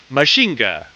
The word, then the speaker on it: Mazinger: Frankenstein once again and while it's spelled mainger it's deliberately trying to sound like mhinga while the word also